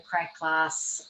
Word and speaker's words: Krae Glas: So it's the sand and the sea, and Krae Glas, actually, and you do pronounce the S at the end of it.